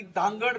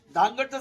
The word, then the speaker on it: धानगड: जमात अस्तित्वात आहे आणि धानगडचं स्पेलिंग होतं डी एच एन G eddy त्यांनी त्याचा शोध लावला की त्याचा उच्चार आहे धनगड तसं नाही आणि धनगड त्याचा उच्चार नसतानी धानगड असा उच्चार आहे धानगड ही जमात अस्तित्वात